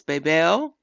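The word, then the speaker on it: בבל: the word Babylon oh in Hebrew it be pronounced as Babel don't that sound like something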